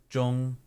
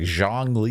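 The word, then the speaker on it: Zhongli: so it's like okay there's no z sound more of a j it's more of a Jong J any zh sound is more of a j j got it yeah cuz a lot of people say like Jang Le mhm like you know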